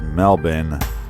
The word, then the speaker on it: Melbourne: and you are super super awsome well it's pronounced Melbourne the borin is silent as you're over at